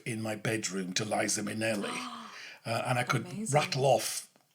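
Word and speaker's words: Minnelli: said that's interesting because it sounds like Minelli and he said yes and then that's when I said well it's funny because I used to lip sync and one of her songs is people mispronounce her name and call her minui right okay they call her Lisa minui so that's where he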